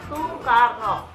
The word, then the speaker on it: Soekarno: Karena dia namanya itu pakai yang lama, jadi Soekarno, tapi bacanya Soekarno.